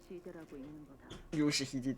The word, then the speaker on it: Yoshihide: No, that's not how you read those letters. Yoshihide, that's how you say it.